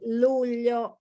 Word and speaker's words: luglio: Giugno, and GLI, luglio, is difficult to pronounce.